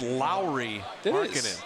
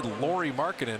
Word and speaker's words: Lauri Markkanen: It is Lauri Markkanen. People call, you hear them say Lauri Markkanen. I don't think you'd want your name mispronounced over and over again.